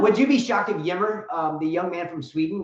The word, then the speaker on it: Ymer: Yimmer, Michael Yimmer.